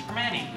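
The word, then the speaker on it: Primanti: It's technically a T, but you don't pronounce a T. It's Vermonti.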